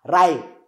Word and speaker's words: write: no don't say to write please say to ra write write to write everything nice this w is silent is sell and sell